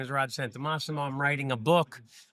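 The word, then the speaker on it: Santomassimo: May 20th with Rod Santamassimo. Hopefully I'm saying that right. You said it perfectly. Emphasis is on the right syllable on that one.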